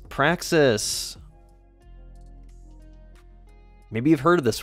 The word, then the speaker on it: praxis: subject like I said rhymes with Texas it is Praxis maybe you've heard of